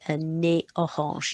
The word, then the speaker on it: un nez orange: For example, if you want to say an orange nose, you say un nez orange. You don't pronounce that Z, because there are certain rules about when they are pronounced and not.